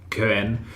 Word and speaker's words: Cöen: Cöen, or Cöen, if we are to go with proper pronunciation of how C-O-umlaut E-N is pronounced, was in the books,